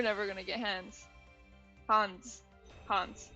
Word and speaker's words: Hans: Hans. That's how you say it.